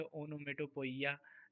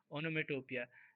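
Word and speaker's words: onomatopoeia: एक तो स्पेलिंग इसका बहुत टेढ़ा है, हम लोग बचपन में पढ़ते थे ओनोमेटोपोइया, है ना, बस ऐसे ही स्पेलिंग ताकि सही लिख पाए, बट पढ़ते रियल प्रोनाउंसिएशन होना चाहिए। ओनोमेटोपिया, देखो मैं लिखा हूँ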